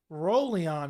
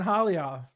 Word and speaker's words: Raulian: action-packed i'm curious how he says pivo's name rolion is how you pronounce that okay i've been saying hollyard alien paiva holly and piva so i've been